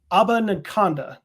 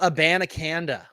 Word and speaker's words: Abanikanda: Israel Abanikanda. Did I butcher that? Yeah, you did. It's Israel Abanikanda, the running back from Pitt.